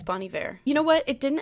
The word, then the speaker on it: Bon Iver: how you say it I used to say Bon Iver but I think it's Bonnie Bear you know what it